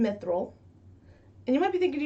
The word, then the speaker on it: Mythril: this is how you say my name miss mithril can you say mithril mithril excellent okay so that's what you can